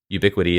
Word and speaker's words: UbiQD: than 90 seconds about ubiquity and their quantum dots inside of a solar panel that if you're interested I would encourage you to Google ubiquity is spelled ubi QD we can also put